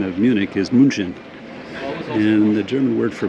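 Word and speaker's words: München: were here as well and the German uh pronunciation of Munich is Munchen and the German word for Monk Is Munch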